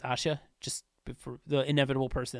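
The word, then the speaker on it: 아샤: fact her name is Asha it's pronounced Asha in Korean I don't know why they spelled Asia but it's Asha just for the inevitable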